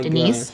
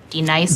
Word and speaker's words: Denise: Oh my Denise? God. Denise? Say it right. Denise. Correctly. Denise. Right. Denise. Right. D-Nice. That's better.